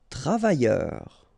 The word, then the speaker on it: travailleur: Travailleur. Okay, remember double L, y, and then E-U-R, heure.